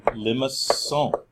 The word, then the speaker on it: limaçon: And he gave it a special name because he's French, he gave it a French name, limaçon, with a cedille, a soft C there, right?